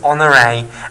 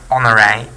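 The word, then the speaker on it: Honoré: his name right so it's a French name so it's got an e acute on the end which means that you pronounce it a at the end okay so on array and I think his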